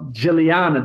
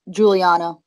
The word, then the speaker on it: Giuliana: So did I say it right? Almost. It's Giuliana. I mean, it's pretty much it. Yeah, you said it different, but I mean, it's the same thing pretty much.